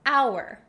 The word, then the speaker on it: hour: reason is very simple we don't pronounce the h in hour it sounds like o Ur we totally get rid of the H sound and that's why we